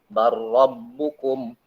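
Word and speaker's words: بل ربكم: Sehingga cara bacanya, maka harus diidghamkan, diikutkan dengan huruf ro. Barrabbukum.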